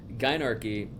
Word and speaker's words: Gynarchy: Gynarchy, am I saying it right?